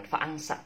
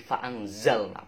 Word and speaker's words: فَأَنزَلْنَا: Nah, tapi bacanya jangan fa'angsa, tapi fa'anzalna, pakai za. Kalau kita bacanya fa'angsa, nanti dimarahin oleh Pak Guru. Oke? Nah, jadi bacanya fa'anzalna.